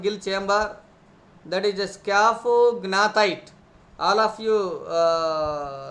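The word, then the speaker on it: scaphognathite: the opening of gill chamber, that is a scaphognatite. All of you spell it, read it, pronunciate it. What is that? Scaphognatite.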